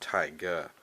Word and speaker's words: Tiger: We have Tiger, or as it's pronounced, Taiga, in Japan or some sort.